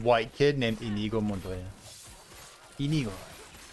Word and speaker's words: Inigo: Inigo. You got to say it like that.